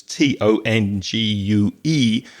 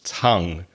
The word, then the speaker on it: tongue: Be careful of the pronunciation. The spelling is weird. It's Tongue, but the vowel sound is a. So it's tongue, the tongue that's in your mouth.